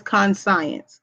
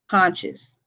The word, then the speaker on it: conscience: Now, the first one looks like it says conscience. It's spelled like con and science, but it is pronounced conscious. Okay?